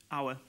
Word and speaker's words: Auer: Pronunciation of your surname? Auer.